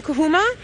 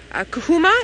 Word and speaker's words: Djuma: cousins now the name kuma is the name in our local language here Jean GaN it means a brown ivory tree because they were first found under a brown ivory tree if you mispronounce it and you say kuma it means you're standing in a doorway ready to go out Jolie you'd like to